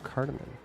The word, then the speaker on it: cardamom: i've been doing all weekend the valkos says pronounced cardamon it's a spice good to know cardamom uh so across the street here on deck